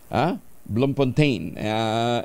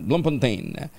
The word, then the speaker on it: Bloemfontein: Ayan, Cape Town at saka isa medyo mahirap ang bigkas ilabas nyo na nga RCV, ilabas mo na yun sa South Africa, Bloemfontein. Bloemfontein.